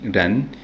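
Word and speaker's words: 人: Esos conceptos en idioma chino se pronuncian Tian, Ti, Ran, Tian para cielo, Ti para tierra y Ran para hombre.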